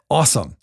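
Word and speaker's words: AUSOME: you're also the co-founder and executive head at awesome which is spelled a u s o m e Great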